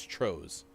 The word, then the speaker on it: Tros: Rhymes with hose, so it's Tros.